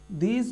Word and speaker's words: the: তার উচ্চারণ কিন্তু অর্থাৎ কনসোনেন্ট দিয়ে শুরু হলে দি এর উচ্চারণ কিন্তু দা হয় এবং ভাওয়েল দিয়ে যদি